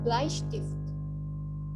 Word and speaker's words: Bleistift: Misalnya ada huruf EI. EI ini dibacanya jadi I. Misalnya di kata der Bleistift. Coba lihat. Di sini ada huruf EI. Nah, huruf ini kan ada di tengah. Bleistift. Jadi AI dibacanya. Der Bleistift.